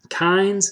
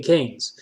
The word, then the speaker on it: Keynes: Kynes, isn't that right? Kynes. Keynes. Okay, Keynes.